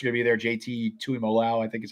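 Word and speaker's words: Tuimoloau: JT Tuimolo, I think is how you pronounce it.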